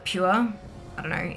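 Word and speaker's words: Pür: It's spelt P-U with an umlaut R, but they call it Pure.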